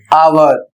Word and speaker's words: hour: Silent हो जाता है उदाहरण में लिखा हुआ है एच ओ यू आर और इसको पड़ेंगे आवर इसकी हिंदी होती है घंटा।